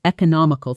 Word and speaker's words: economical: That's economical thinking. Shadow both economic. Economical. Notice the extra syllable and the shift in stress versus nom.